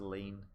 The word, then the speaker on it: lien: It's an unusual spelling. It's like Lein. It's pronounced lean.